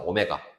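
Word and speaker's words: ω: 오메가. 이거를 W 아니고 뭐라고 읽는다? 오메가라고.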